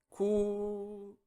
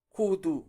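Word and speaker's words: 구두: Estamos viendo palabras bisílabas. La tercera, ¿cómo sería? Kudu. Kudu.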